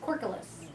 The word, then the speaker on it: Corkulus: I think it's C-O-R-K, like cork, and then U-L-O-U-S, Corkulus.